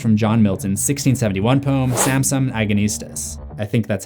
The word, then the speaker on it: Samson Agonistes: is an excerpt from John Milton's 1671 poem Samson Agonistes that's how you say it it to hints